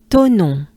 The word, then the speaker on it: Thonon: And then it goes into O, to, right? To, and then non, on, right? That funny French sound, on. On is into non. So at the beginning here we have Thonon, and then les, so